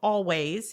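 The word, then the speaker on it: Alvvays: and there is a band called Always it's spelled all vas if you're reading it they were just nominated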